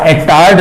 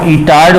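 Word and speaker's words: Étard: Superb reaction है, ध्यान रहे, टोलुइन के आगे क्रोमिल क्लोराइड वाटर दे रखा है, बेंजल्डीड बनाओ और एटार्ड रिएक्शन बोल दो, इटार्ड बोल दो, प्रोनाउंसिएशन का फर्क है, मैंने स्पेलिंग लिख दी है, एटार्ड रिएक्शन नाम से इसको जानना है।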